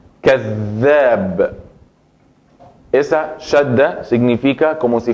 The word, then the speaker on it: كذاب: Entonces la pronuncio con más fuerte y más énfasis a la misma letra. كذاب.